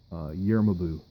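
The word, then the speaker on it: Gjermundbu: to butcher the name year mabu which it's GJ ER and you BBA you do something like that just single helm and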